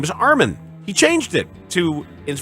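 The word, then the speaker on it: Armen: NBA yeah because people used to call him Arman Arman when his name is Armin he changed it to is from a r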